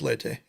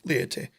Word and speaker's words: Leyte: hey by the way my name is leyte not liaity he's like oh i